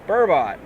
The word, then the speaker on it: burbot: Of course, it's a burbot, or burbo, depending on where you're from. That T is silent and makes an O sound.